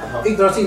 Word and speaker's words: Yggdrasil: Entonces, Yggdrasil, con la Yggdrasil no se puede pronunciar ni siquiera. Entonces, sí, para escribirlo incluso, ¿no? Sí. Y-G-G, ¿no? Yggdrasil, no tiene nada que ver con Brasil.